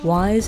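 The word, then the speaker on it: Wyze: And again, WISE is spelt W-Y-Z-E.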